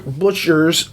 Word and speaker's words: Butcher: him okay jim booker butcher's if i could say his name is not booker it's butchers peace talks is not